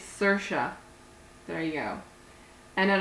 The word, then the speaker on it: Saoirse: And you're like, how do you pronounce that? It's Saoirse.